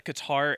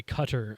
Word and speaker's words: Qatar: and then it was guitar rways guitar Grand Prix yeah uh stupid very stupid but it was a guars Grand Prix or sorry cutter I guess is how we're supposed to be pronouncing that we're not going back